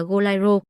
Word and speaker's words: Goleiro: Cậu ta chỉnh lại rằng từ đúng phải là Goliro phát âm bằng chữ E chứ không phải chữ A.